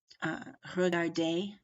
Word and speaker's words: regarder: If they end in an ER, an EZ, or an ET, which is basically an E with a silent consonant after it, but not including plural S, okay? Not including S's, but these, especially these three consonants, then the word is usually a long A sound, such as regarder, parler, ballet.